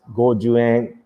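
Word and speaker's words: 五十円: as goen, and then a 50 yen coin is pronounced as gojuan.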